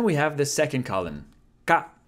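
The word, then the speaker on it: か: Ka. How to pronounce ka? Ka is just the K sound plus a, making a ka sound. It's pronounced like ka in karma.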